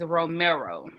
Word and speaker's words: Romero: So the correct pronunciation of his name is Romero.